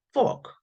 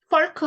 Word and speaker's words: fork: 자, 우리가 포크 하는데 사실은 후 발음, 후 발음에다가 OR 발음 약간 얼 쪽으로 좀 가까워요. 그래서 포크 하시면 돼요. 자, 그래서 자, 펄크 아니에요?